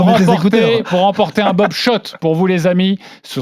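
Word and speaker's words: Schott: Oui Shot et pas Scott ça fait des années qu'on prononce mal la marque.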